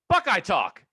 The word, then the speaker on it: Buckeye Talk: official name of yours you have to say it like this buckeye talk why don't we just